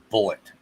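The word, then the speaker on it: Bulleit: on bar rescue and they always pronounced it bullet i'll go with john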